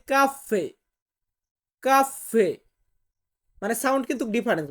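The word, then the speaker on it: caffè: বলা হয় না এটাকে যেমন আমরা বলি কফি ওরা বলে কাফফে কাফে মানে সাউন্ড কিন্তু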